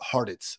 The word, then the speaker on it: Hartitz: But yes, I always say it's pronounced like Cheez-Its, but Hartitz.